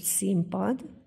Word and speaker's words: színpad: ezt a szót hogy színpad akkor máris látjuk és halljuk hogy ugye leírt np hang kiejtve mpv változik tehát színpadot ejtünk sokkal